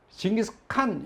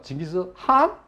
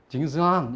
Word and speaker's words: 징기스칸: 근데 이 몽골 가면은요 징기스칸 이렇게 발음하면은 싫어해요. 그래서 나보러 징기스칸 이렇게. 그래서 징기스한 그러니까 이 콧소리를 해요. 징기스한. 이 칸도 아니고 한도 아니고 좀 애매하죠. 그래서 징기스한 이렇게 발음을 하래요.